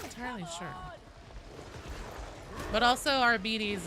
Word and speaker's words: Arbites: But also, Arbides is the official Games Workshop pronunciation.